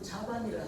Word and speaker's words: 자반: 또 이쪽이라는 뜻은 자반이라 합니다. 근데 이제 교통 차단할 적에는 막을 차자를 차단이라 하는데 여기서는 자라고 발음해요.